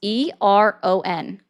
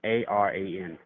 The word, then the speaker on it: Iran: as if it was spelled Eron. It's Aran.